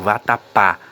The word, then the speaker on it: vatapá: A pronúncia, por exemplo, vatapá. Observem que o pá é um som aberto.